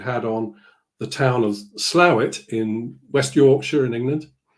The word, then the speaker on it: Slough: Yeah, you did that, and you pronounced Slough properly.